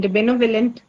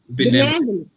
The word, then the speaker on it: benevolent: Benevolent. Yes. Benevolent. Benevent. Yes. Benevolent is the right pronunciation.